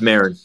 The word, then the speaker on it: Marin: I want to Yeah, pronounce it correct. it's Marin, but that's okay.